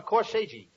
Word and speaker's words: corsage: I gave each one of them a corsage. No, not corsage. Corsage. That's corsage. Spelled A-G-E is pronounced like odd, as in corsage or garage.